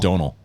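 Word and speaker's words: Domhnall: carell gleeson it's spelled don hall but it's pronounced donal um and that's just i mean you mean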